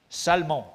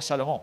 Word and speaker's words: Salmon: Salmon, pas Salomon, Salmon, engendra Boaz de Rahab.